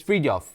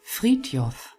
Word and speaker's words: Frithjof: Next up is Frithjof. I think that's the right way to pronounce it. I checked on Google. Frithjof.